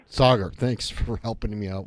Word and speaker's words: Saagar: i pronouncing your name correctly it's uh it's pronounced sagar sagar thanks for helping me out with that all